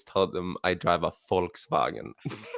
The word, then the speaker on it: Volkswagen: them I drive a Volkswagen. Like I always pronounce it with an F, like instead of a V, because everyone here is like Right. Volkswagen.